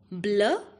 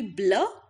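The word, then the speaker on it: bleu: first one is blue blue in French is blur and the feminine form will be pronounced as blur masculine feminine both will be blur in pronunciation but spelling is going to be changed feminine we are going to add an e at the end second color is black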